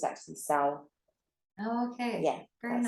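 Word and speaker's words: Samhain: thing yeah we do some people think it's Sam hey how it's spelled that it's actually sour oh okay yeah that's how you pronounce it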